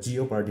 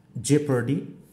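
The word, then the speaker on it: jeopardy: দেখো জেপার্ডি, হ্যাঁ জেপার্ডি, আমরা জিও পার্টি বলে থাকি, আসলে এটা হবে জেপার্ডি। তারপরে দেখছি আইই এই দুটো লেটার্স থাকলেও আমরা অনেক সময় পাচ্ছি হচ্ছে দেখো এ সাউন্ড।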